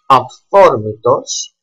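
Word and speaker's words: αυθόρμητος: They are pronounced F or F when follows theta, like aphthormitos, that means spontaneous, aphthormitos,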